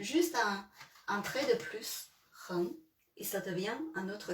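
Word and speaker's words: 人: Si vous connaissez ça, et puis vous mettez juste un trait de plus, ren, et ça devient un autre caractère.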